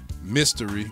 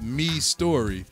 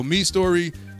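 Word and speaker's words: Mistory: me last week and said it is pronounced me story so me story theme God God grace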